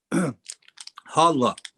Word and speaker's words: halva: How is it pronounced from your part of the world, Imam? Halva.